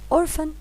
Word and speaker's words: orphan: Orphan البي اتش بتنطق اف.